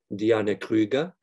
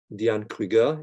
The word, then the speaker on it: Diane Kruger: is a u.s citizen her name may be pronounced as a diana krieger in german diane krieger in french or diane kruger in english depending on the circumstances less visible as a